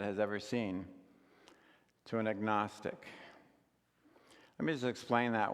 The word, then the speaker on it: agnostic: It's referring to knowledge, and when we put the A in front of it, we pronounce the G, and so it become instead of agnostic, it becomes agnostic, and that's where we get that word from.